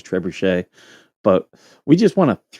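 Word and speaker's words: trebuchet: Uh, I think the French pronunci pronunciation is trebushche, but we just want to throw into the desert.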